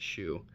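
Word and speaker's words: SHOO: stock exchange under the four-letter trading symbol s-h-o-o pronounced shoe how cute and appropriate that was this adds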